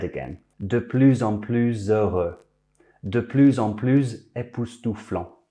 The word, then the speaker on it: de plus en plus: If it's followed by a consonant, the S is silent. De plus en plus facile.